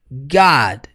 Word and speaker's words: God: é Nossa pronuncia comigo God e por último né A última palavra dessa primeira linha God E esse gato de Deus você percebe que a pronúncia é bem aberta não é god não